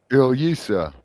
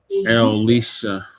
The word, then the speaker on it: Ilyasah: Ilyasah. Ilyasah. Ilyasah. Elisha. No, Ilyasah.